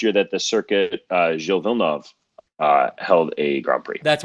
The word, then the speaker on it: Villeneuve: I want to say Villeneuve, but I know it's not. Like how you pronounce it. It's Gilles Villeneuve. Villeneuve.